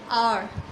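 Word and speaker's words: hour: फिर एन आवर, an honest person, मैंने बताया ये एच से तो स्टार्ट हो रहा है लेकिन उसका प्रोनाउंसिएशन कैसा है? एन आर, ओ आ रहा है साउंड में, तो वो भी एक स्वर है, हिंदी का वोवेल्स है, ठीक है।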